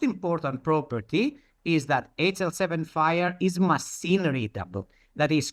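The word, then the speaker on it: FHIR: That word that you see here FH IR the FHI we pronounce fire like uh the fire.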